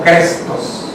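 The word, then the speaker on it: Christos: La palabra en griego más o menos se pronuncia algo así como Crestos, ¿okay?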